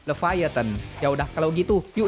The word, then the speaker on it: Leviathan: there Oh iya guys By the way cara bacanya leevatan Ya udah kalau gitu